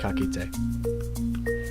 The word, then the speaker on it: ka kite: Like a goodbye would be ka kite.